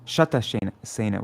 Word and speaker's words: Shatasena: Shantasena, from whom Shatasena was born. Only difference in their name is one has a long A and an N.